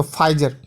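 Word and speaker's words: Pfizer: तो अब आप ही गौर करें कि किसी कार्टून में फाइजर के बारे में, इसमें देखिए PHIZER जो लिखा है उसमें P साइलेंट है, तो फाइजर, ठीक है।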